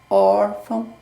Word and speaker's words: órfão: A sílaba forte é o O de órgão, órfão.